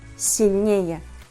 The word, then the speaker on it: сильнее: If the simple comparative degree consists of two syllables and ends with the suffix «ее», this suffix always takes the stress. Сильный – сильнее, вкусный – вкуснее.